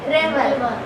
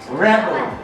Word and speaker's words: rubble: Rebel. हाँ? Rebel. रे हो गया, रे रे रेबल।